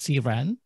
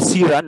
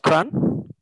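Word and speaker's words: CRAN: we submit our packages it's not pronounced current but see ran i see that what's the right pronunciation for anything yeah you can call it the way you so michael is called cyran not kran yeah it's iran really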